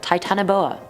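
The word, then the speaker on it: Titanoboa: the Titan booa now there was so many pronunciations to this one I was like what do I choose but then Charlotte over on iO it said it was like that so I'm a trust her titanboa I'm a trust her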